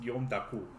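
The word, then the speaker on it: Guillaume d'Harcourt: and double is d apostrophe harcourt h-a-r-c-o-u-r-t but pronounced yom daku i don't i cannot read the plutonium names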